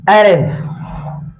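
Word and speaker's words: heir: बढ़ते हैं सी इ एरे एरे मतलब उत्तराधिकार नहीं व क्या एक उत्तराधिकार नहीं है तो आपको यह देखना है इसको कैसे लिखते हैं इसको एर बोलते हैं यह रवि साइलेंट रहता है अब यहां पर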